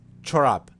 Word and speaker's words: çorap: As you see here, there's strong ch with the dots below the C letter, and here is the same. So pronunciation ch, like as an example in Czech.